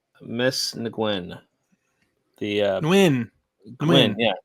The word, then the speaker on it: Nguyen: I'm going to say the last name wrong. Miss Nguyen. Nguyen. Yeah, Gwen.